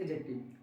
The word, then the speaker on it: adjective: आएंगे ए डी जे, वहां पर डी साइलेंट कर देना है। सो इट्स एडजेक्टिव एंड एडजेक्टिव।